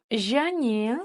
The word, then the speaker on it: және: Және, слово және, которое означает союз и, соединительный союз и. Және. Представьте, что после буквы Ж стоит буква Я.